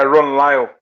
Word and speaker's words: Lyle: How do you guys pronounce it as Ron Lyle? Lyle? Yeah, Ron Lyle.